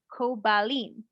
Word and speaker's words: Koblin: Her question is, the name is now Koblin with a B instead of a P, but the name is pronounced Kobalin.